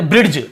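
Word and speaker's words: bridge: जी के पहले डी तो इसे अब हम नॉर्मली कैसे पढ़ते ब्रिज ड ऐसे पढ़ देते हैं क्योंकि डी लिखा तो ब्रिज ऐसे पढ़ देते हैं हम लेकिन क्योंकि डी को नहीं पढ़ केवल ब्री ज क्योंकि जी के साथ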